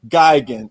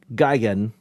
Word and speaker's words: Gigan: So my tendency is to let me quickly say my tendency is to emphasize the first syllable as opposed to the second syllable.